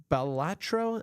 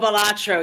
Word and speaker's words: Balatro: really cool um Arco is it pronounced balatro I think that's how it's pronounced oh balatro yeah that's been very